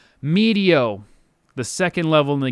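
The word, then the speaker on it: Meteo: pretty high so it's is it medio it's media i think i pronounced it mateo earlier medio the second level in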